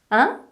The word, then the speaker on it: hein: Hein? Mais attention à la prononciation. Écoute bien. Hein? Tu entends? C'est l'une des 4 voyelles nasales du français.